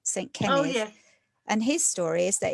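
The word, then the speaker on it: Cenydd: saint called um kenneth who's called kenneth in english but his name isn't spelled like that he's welsh it's it's about c-e-n-y-d-d saint kenny and his story is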